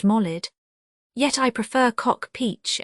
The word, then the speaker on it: Maulid: None save a defective ear would hold, as Lane does, Maulid equals birth festival, more properly pronounced Molid.